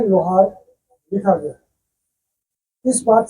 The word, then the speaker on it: लोहारा: उन्होंने लिखा था कि LOHARA का हिंदी लोहार की जगह लोहारा पढ़ा जाए, क्योंकि उन्होंने कहा कि इसमें कुछ स्पेलिंग मिस्टेक हो गई है, इसलिए इसको लोहारा पढ़ा जाए।